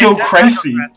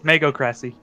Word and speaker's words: magocracy: you sure you didn't just like mispronounce it horribly? It's No, it's magocracy. It's magocracy.